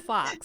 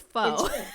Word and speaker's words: faux: It's not fox. It's faux. She's. Yeah. Is that a British term? It might be. Faux is it's French. It's a French word.